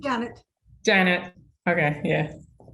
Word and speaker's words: Janet: you pronounce your name Janet Janet okay yeah I pronounce mine the same but obviously I have the Double T all right well it's